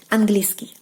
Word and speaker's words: английский: So when you're trying to pronounce it quicker, the sound E will basically like disappear. Английский, английский, английский, английский.